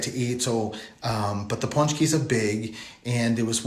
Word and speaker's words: pączki: This time of year, there's a pastry called pączki. That's how it's pronounced.